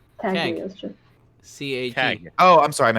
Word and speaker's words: Cagliostro: Cagliostro? Cagliostro. C-A-G. Oh, I'm sorry. I'm an H. I mean, it doesn't matter. Let's move on. There's an Italian letter that's a li, which is spelled differently.